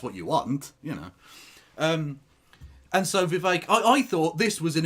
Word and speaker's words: Vivek: So, Vivek, it rhymes with cake, right? You can tell I'm taking this very seriously. Vivek, it rhymes with cake,